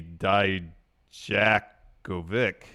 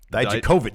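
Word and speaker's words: Dijakovic: So I thought it'd at least be Dye-Juh-Koh-Vich.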